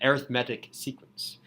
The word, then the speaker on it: arithmetic: arithmetic sequence I'm usually adjectives that can be used as nouns that end with I see I think that's real at least they have pronunciation that's towards the end sort of towards the front so if I'm saying this series is called an arithmetic series an arithmetic sequence not arithmetic sequence that that's not the